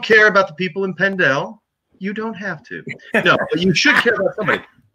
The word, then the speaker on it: Pendel: Do you know the pronunciation? Yeah. Pendel Food Pantry in Pennsylvania.